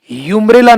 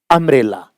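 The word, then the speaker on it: umbrella: यूम्ब्रेला नहीं, अम्ब्रेला, अ। अम्ब्रेला, अ। एन अम्ब्रेला, a sound आ रहा है।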